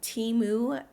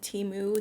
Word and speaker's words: Temu: on Amazon and on Teemu a lot of you guys are telling me that it's pronounced timu TAMU not sure but you guys